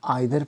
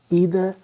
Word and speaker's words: either: तो मैं आपको ये क्लैरिफाई कर दूं कि ब्रिटिश प्रोनाउंसिएशन के अंदर इसको आप आइदर पढ़ेंगे और नाइदर पढ़ेंगे, और अमेरिकन प्रोनाउंसिएशन के अंदर आप इसको ईदर और नीदर पढ़ेंगे।